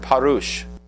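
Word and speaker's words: parush: That word Pharisees believed to be derived from the Hebrew word parouch. P A R U S H which can mean separate or interpret.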